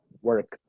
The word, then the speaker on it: worked: La pronunciación de ese sufijo ed es como una T. ¿Sí? Entonces, por ejemplo, el pasado de work, trabajar, es worked.